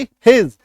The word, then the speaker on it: his: Next देखिए, उसका अंग्रेजी क्या होगी, हिज, HIS, हिज, उच्चारण देखिए, ही ज पे नुक्ता, हिज, ऐसा, है ना।